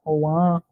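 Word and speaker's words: Ogham: Então, Ohan, Ogan, Oan, né, como se pronuncia.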